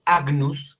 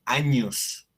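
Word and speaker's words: agnus: latín es lo mismo entonces en lugar de decir a menús se dice a news años es el cordero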